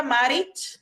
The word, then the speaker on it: Maric: today I have with me marich is there a I hope I pronounce your surname correct yes it's perfect yes